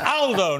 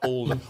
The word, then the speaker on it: Aldo: It's Aldo, not Aldo. Aldo's a very British pronunciation of an Italian name.